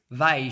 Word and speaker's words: bem: is saiddas "bem" and in Portugal it is said as "baim", so in Portugal the word "bem" rhymes with "mãe", something impossible in Brazil, but anyway, differences, this is a point for Brazil.